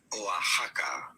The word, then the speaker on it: Oaxaca: the city and state in spanish it is pronounced as oaxaca that's it yeah okay i knew i was going to butcher it or i've heard people say oaxaca oaxaca okay she spelled it out for us thank